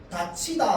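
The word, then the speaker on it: 닫히다: 다치다가 되려면 어떻게 발음돼야 되냐면 디귿이랑 히이 만나서 뭐가 돼야 되냐면 티귿이 먼저 돼야 됩니다.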